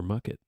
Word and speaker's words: mucket: yeah, or crush it in your mucket. Crush it in the mucket, Well, which rhymes with bucket.